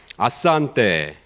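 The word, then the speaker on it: asante: 틀리고 힘든데 탄자냐 가니까 스왈려는 그냥 철자 그대로 읽더라고요. 그리고 액센트도 뒤에서 두 번째 모음에 있어요.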